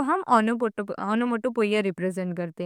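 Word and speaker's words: onomatopoeia: ओनोमोटोपोइया को हम pronunciations ओनोमोटोपिया भी बोल सकते हैं। एक्चुअल में प्रोनाउंसिएशन ओनोमोटोपोइया आता है।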